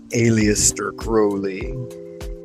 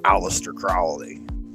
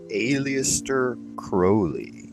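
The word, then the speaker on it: Aleister Crowley: Conformity to one's will according to Old Alias crowy that's how he pronounced his name in the modern parlaments they call him alist Crowley M crowy but that's not what he called himself he called himself Alias crowy hit the likes guys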